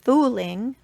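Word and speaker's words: Fuling: Some extra interesting little details that they mentioned was that fueling, which I think they pronounced fooling, actually means ugly one, not goblin like most of us call it.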